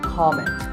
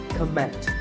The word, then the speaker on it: comment: I have heard many speakers say comment. Now, whether you use this word as a noun or as a verb, the first syllable is always com. So it's never a comment, it's a comment.